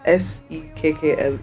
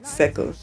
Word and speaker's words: Sekkle: And just how me I pronounce it, so you have to type Sekkle. Sekkle.